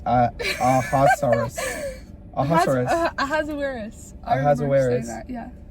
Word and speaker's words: Ahasuerus: it's Ahasuerus. Ahasuerus. Ahasuerus. Ahasuerus. That, yeah. Ahasuerus gets ticked off at his wife.